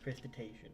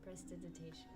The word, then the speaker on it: prestidigitation: Prestiditation. Prestidigitation.